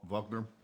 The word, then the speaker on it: Wagner: impressed with their wine Wagner Wagner vogner depending on you know whether you want the traditional German pronounce V Vagner or Wagner Wagner Wagner anyway yeah